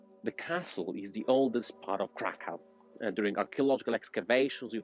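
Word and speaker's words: Kraków: go to find out so guys krakow actually krakow in polish pronunciation it's called like that because of the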